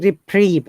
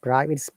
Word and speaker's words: reprieve: reply rip drive I'm admittedly it is reprieved not private it's reprieve reprieve admittedly one that is